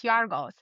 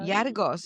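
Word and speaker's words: Γιώργος: Well, in Greek, it's Yargos. So, Yargos, yeah, yeah, Yargos.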